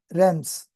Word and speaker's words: realms: Rams A is silent. Okay. Rams realms of existence that means state of existence.